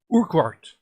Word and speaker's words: Urquhart: are oh um robert i was practicing how to say his name right because it's weird it's actually weird not his first name the second one urquhart what urquhart look what you are q-u-h-a-r-t that is a mouthful what's that you're perfering